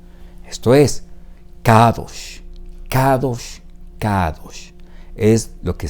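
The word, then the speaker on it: קדוש: Y la palabra aquí leída en hebreo es la que usted ve en su pantalla: Kadosh. Esto es Kadosh, Kadosh, Kadosh. Es lo que se está pronunciando en un acto de adoración en este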